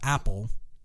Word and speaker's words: Apol: Apple, and Apple is spelled APOL.